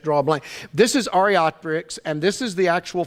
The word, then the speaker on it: Archaeopteryx: one of their great proofs is, and somebody pronounce that for me again, because I freeze on it every time. Archaeopteryx. That's the name of it. I freeze up and I just draw a blank. This is Archaeopteryx, and this is the actual fossil.